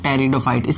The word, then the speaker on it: Pteridophyta: का सबूत पर इसको बोलते टेरिडोफाइट्स में प्लीज साइलेंट होता है टिटहरी डोर आइटम टेरिडोफाइटा